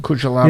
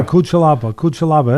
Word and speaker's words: Cutelaba: How do you pronounce it? Cutelaba. Yeah, Cutelaba.